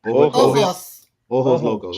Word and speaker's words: Ojos Locos: Ojo Locos. How you say it? Ojos Locos.